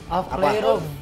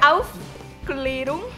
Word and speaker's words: Aufklärung: Cara bacanya itu Auf Klärung. Suka banyak yang salah. Karena ada kutip di atasnya. Enggak pernah waktu yang pas di itu, pas tampil di itu. Iya, di itu Auf Klärung.